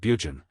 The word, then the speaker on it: Burgoyne: Nutting had a famous foxhound named Burgoyne, he pronounced it Bugen, which my informant used to borrow.